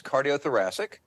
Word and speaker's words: cardiothoracic: Thank you, first of all, for having me here, but it's cardiothoracic.